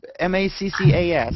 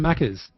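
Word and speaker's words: Maccas: didn't know what that was it was he's m-a-c-c-a-s that's how they that's it colloquialism for um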